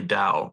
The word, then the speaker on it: Tao: people uh well in in current Mandarin it's definitely Dow but um you know